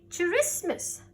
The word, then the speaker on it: Christmas: says k are you ready i don't say christmas merry christmas i say merry christmas to mess